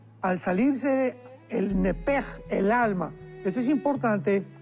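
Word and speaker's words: נֶפֶשׁ: porque es la palabra nepesh con sh al final. Neph. En el hebreo se pronuncia eh la sh con j. Entonces, la pronunciación hebrea es nepej. Al salirse el nepej, el alma.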